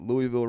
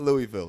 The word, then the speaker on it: Louisville: It's like Louisville. I was like, "What did you say? It's not Louisville. It's Louis Wville." No, it's not.